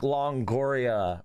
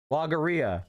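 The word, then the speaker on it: logorrhea: Yeah, it's called like Longoria or something. I can't remember how to pronounce it. Logoria.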